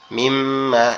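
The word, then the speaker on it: م: মিমটা উচ্চারণ হবে আমাদের দুই ঠোঁট থেকে, আমাদের দুই ঠোঁট একসাথে লেগে নরম আওয়াজে মিম্মা, মিম্মা, এরকম ভাবে কি হবে? উচ্চারিত হবে।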